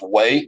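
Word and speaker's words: Hue: too but way City where this h-u-e is pronounced way like Q it looks like way city was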